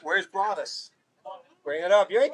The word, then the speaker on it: Broadus: And I looked at his dad, and I said, Broadus? Why didn't they call him Brodus? And his dad says, well, that's our last name. It's pronounced Broadus.